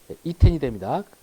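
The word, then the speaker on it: יִתֵּן: 되는데 자, 이렇게 되면 자, 누는 아르셔바면 무조건 뒷자음에 동화 들어간다. 그래서 사라지고요. 여기 이제 이중점 있고 그러니까 결과적으로 이텐이 이텐이 됩니다. 제가 발음 교수 이텐 이렇게.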